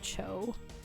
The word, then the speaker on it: Zhao: It's like how Zhao is pronounced Cho. Because he's Chinese.